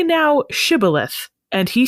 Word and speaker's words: Shibboleth: They pronounced the SH sound as just an S sound. Shibboleth.